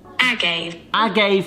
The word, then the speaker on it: agave: It is in the aisle in the supermarkets next to honey, and I've always wanted to know how to pronounce this, so let's ask Google. Agave nectar, which actually comes from a plant called the Blue Weber agave plant.